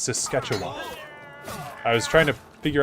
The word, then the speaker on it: Saskatchewan: No, it's Saskatchewan. I was trying to figure out how to pronounce that.